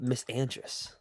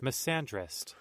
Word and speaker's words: misandrist: Oh, how do you say it? Misandrist. Misandrist. I was pretty close.